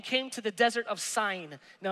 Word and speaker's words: Sin: watch this the whole israelite community set out from elam and came to the desert of sine now i know it is spelt sin but it's sign which is between elam